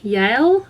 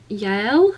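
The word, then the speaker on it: Yael: a character that okay I'm not sure how to pronounce the name it's y a e l Yale I Yale who is a former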